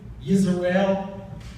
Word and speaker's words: Israel: Is that Israel, Yisrael?